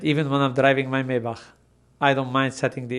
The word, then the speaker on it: Maybach: In German is Maybach, but it's a Maybach is fine.